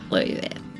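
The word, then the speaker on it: Euwe: Now, of course, there are many different ways to pronounce Uwe. There's U, Yui, but for this video, we're going to stick with Uwe. There is a light emphasis on the first syllable of his last name, Max Uwe.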